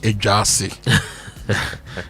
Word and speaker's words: Ayeduase: In Kumasi at the Jackson Educational Complex headquarters in Ayeduase, pronounced Ejase, near KNUST.